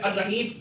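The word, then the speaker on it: الرحيم: जैसा कि मैं आपको बताऊं कि एक वर्ड है अर्रहीम। अर्रहीम में देखें अलिफ के बाद लाम है लेकिन वो पढ़ने में नहीं आ रहा, तो इसका मतलब ये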